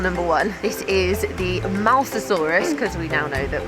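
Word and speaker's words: Mosasaurus: This is the Mousasaurus cuz we now know that we are how to pronounce it correctly.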